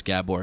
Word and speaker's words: Gabor: stickler for pronunciation and in Hungarian the emphasis is always on the first syllable of a word uh and the A's have accents over them properly so Gabor mate uh